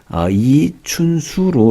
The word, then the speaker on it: 이춘수: 하기 위해서 조직을 했고요 제 이름은 리 천수로 이렇게 볼 수도 있는데 이춘수로 이렇게 발음을 해야 되고 축구 선수 리턴수랑 표기가